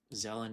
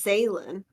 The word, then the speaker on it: Zelen: But Zelen is an old classic of mine. Is that how you pronounce it? Yep. I thought it was Zaylin. Well, either or.